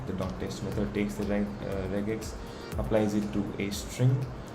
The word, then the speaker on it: regex: Okay, JavaScript has multiple ways to use regexes. Yeah. Is there a way to pronounce this? I'm sure there is. It says regex.